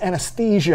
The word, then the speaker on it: anesthesia: It's pronounced anesthesia.